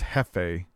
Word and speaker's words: Jeffy: Okay, so Jeffy says it's pronounced Hefe.